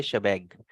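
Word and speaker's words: shebang: इसको बोला जाता है शबैंग, इसकी प्रोनाउंसिएशन होती है शबैंग, ठीक है।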